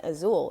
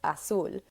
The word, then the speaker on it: Azul: Technically, my name's not even Azul; it's Azul. So Azul. if you were gonna say my name quote unquote correctly, it would be Azul.